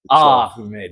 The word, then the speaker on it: Ahmed: Because the way you pronounce it is like, ooh. I don't think Jeremy is gonna survive this one. AKA Ahmed. Yeah, it's softer. Ahmed.